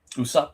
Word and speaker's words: Usopp: I've been looking for how how do we pronounce it? Usopp. Usopp.